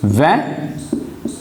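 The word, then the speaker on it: vingt: this now it is very easy what is that i will tell you you know 20 is van and then we pronounce it as a because the last consonant is mute i have taught you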